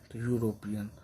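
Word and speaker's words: European: ए मैन ए यूरोपियन अब ई है ना तो भवेल है इसका हिंदी वर्णमाला में यू आ रहा है यूरोपियन ये क्या हो जाएगा ए लगेगा एन नहीं लगेगा य यूनिवर्सिटी यूनिवर्सिटी तो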